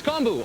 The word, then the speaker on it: kombu: It's kombu, Alton. Oh, kombu. I'm sorry. Didn't recognize it. I've only seen that in its dry form. It's quite large. I can't imagine swimming through that. Kombu is one of the ingredients that's usually combined